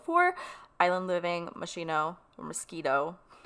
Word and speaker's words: Moschino: Island Living, Machino, or Mosquito. They pronounce it like mosquito too. It's like Moschino.